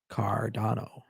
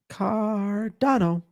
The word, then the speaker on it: Cardano: Yes, what's the correct way to pronounce Cardano? Cardano. Cardano.